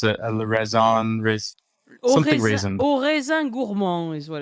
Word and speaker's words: Au Raisin Gourmand: I'll let you pronounce it. Le Raisin, something raisin. Au Raisin Gourmand is what it's called.